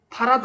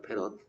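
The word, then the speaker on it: farad: 패러데이라고 해서 이 양반을 기념하기 위해서 패럿이라고 빼버리고 파라드 아니냐고. 그건 우리 생각이고요. D자는 묵음 처리해서 패럿이랍니다. 패럿.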